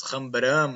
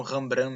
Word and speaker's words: Rembrandt: Porque nós em português falamos Rembrandt, mas se botar no tradutor holandês vai dar Rembrandt, né? Então são muitas formas de dizer, aí eu vou ficar com Rembrandt mesmo.